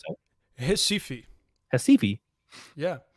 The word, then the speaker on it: Recife: Recife. Recife? Yeah. That's an R. Yeah, because R's in Portuguese make a H sound.